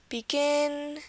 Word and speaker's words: begin: One rule is that most 2-syllable verbs this will happen in most 2-syllable verbs, that the stress will be on the last syllable, just as we saw here. Present, export, decide, begin.